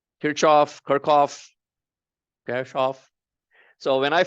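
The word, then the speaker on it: Kirchhoff: apparently he a German physicist the actual German pronunciation is kof I don't none of us lived during his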